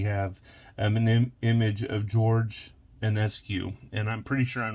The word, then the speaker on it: Enescu: an image of George Enescu. And I'm pretty sure I'm not saying that right. You may know him more from the French pronunciation of his name, Enesco.